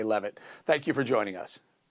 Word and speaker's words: Leavitt: Is it Leavitt or Leavitt? How do you pronounce it? It's Karoline Leavitt, and it's Karoline with